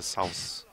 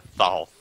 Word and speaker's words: Thoth: The Souths. The Thoth. No, it's literally pronounced Thoth.